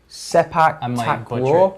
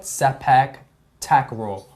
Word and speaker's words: sepak takraw: Now, the first sport that we are talking about today is soccer badminton, or how it is pronounced. Sepak takraw. Sepak takraw.